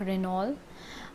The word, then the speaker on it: Renault: ET is also silent in this, like Renault, but Chevrolet is from United States and Renault is from France.